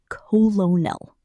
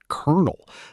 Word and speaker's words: colonel: in my head as colonel. Like exactly how it's spelled. Okay, that's a great one because the actual pronunciation is kernel. Like it sounds exactly like the word for corn kernel.